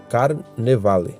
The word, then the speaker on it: carnevale: A palavra Carnaval é uma palavra latina, né? Que na pronúncia é pronunciado carnevale, né?